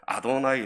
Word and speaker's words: 아도나이: 이름만 나오면 어떻게 합니까 여호와라고 발음하지 않고 아도나이 아고 읽었습니다 성경을 필사할 때 뺏겼을 때 여호 여호와라는 단어 하나님의 이름이 나오면 멈추어서 몸을 깨끗이 씻고 다시 꾸어 앉아서 여호와를 뺏겨 쓰는데 읽을 때는 아도나이 아고 읽는 겁니다 여러분 우리나라도